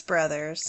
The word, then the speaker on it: Bros: place called stagnaro Brothers is it brothers or bros because it's spelled b Ros it's Brothers okay stagnaro Bros uh and